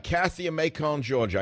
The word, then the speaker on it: Macon: All right, Kathy in Macon, Georgia. I said it wrong. I can't say Macon. That's because I speak too much French. It's Macon in France.